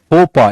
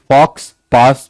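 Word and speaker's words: faux pas: फोपा इज the pronunciation, फॉक्स पास मत पढ़ना, ये फ्रेंच है, जो लिखते हैं वो बोलते नहीं ये।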